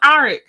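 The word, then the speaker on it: Arryk: and said which one's aric and then they even said that because technically their names are pronounced the same um Eric and Eric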